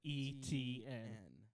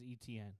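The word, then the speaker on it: Etienne: gonna put it on the side t n pronounce it literally put e TN and all you have to say is etn etn junor Mark Andrews Curtis Samuel San Francisco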